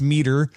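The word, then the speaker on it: METR: It's pronounced meter, but it's spelled me and it stands for model evaluation and threat research.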